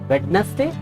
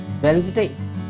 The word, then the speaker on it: Wednesday: Yes, this is pronunciation. The next word is, इस word को आप क्या बोलते हो? Wednesday? This is not also correct. The correct is Wednesday.